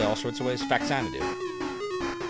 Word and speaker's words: Faxanadu: sorts of ways fanu it's the only way to say it faxanadu I've heard some people say fanad do while I recognize that it is supposed to be of the words famicom and zanu it is fanu that is how you say because I say it that way unthaw what does that